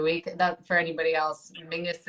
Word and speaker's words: Menzies: that for anybody else mingus is how weirdly the scottish people um that's that's how they would pronounce menzies i don't understand where the g comes out of it but that's it a little weird yeah but it is